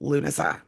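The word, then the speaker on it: Lughnasadh: So, it's just Luna.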